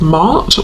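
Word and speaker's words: Ma'at: And I'm noticing the feather, which is making me think of the Egyptian goddess Mart, or Mat, depending on how you pronounce it, who is about truth.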